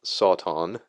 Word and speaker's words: Satan: Well, Satan is a very very old word and uh it's variously transliterated into English with Sauton being an accepted pronunciation.